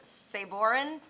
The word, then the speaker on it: Sabrin: number yes Mr chair saboren who is going to correct me on his last name and up on Deck Jackie boltman you're the first person to ever pronounce my name correctly the first time uh my name is